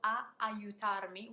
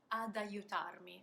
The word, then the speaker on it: ad aiutarmi: So that preposition a becomes ad. A aiutarmi, ad aiutarmi. It's just a sort of a springboard, a little consonant that helps me regroup before the other verb starting with an a.